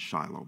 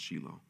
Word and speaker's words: Shiloh: The Shilo conference in we call it Shiloh but it's actually pronounce sheilo um um majority of